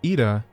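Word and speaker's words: Yda: Oh, I believe Ida wished a word with you. See, it's pronounced Ida. I know that because the cutscenes say, "Oh, Ida, what are you doing?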